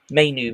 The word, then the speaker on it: Mainoo: Mainu, is it? Is that how you pronounce his name? Yeah, Mainu? Kobe Mainoo.